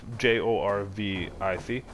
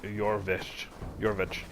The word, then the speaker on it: Jorvik: It's Jorvic, but it's pronounced Jorvich, because J's are pronounced more like Y's, and IC's are like ICH's, so it's like Jorvich.